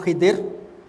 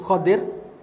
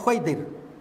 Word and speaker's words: Khidir: Ada sebut Khidir, ada sebut Khadir, dan bacaan yang paling dhaif Khaidir. Khaidir tak ada sebab ejaan khadara. Khadir atau Khidr. Boleh dua-dua, tak ada masalah.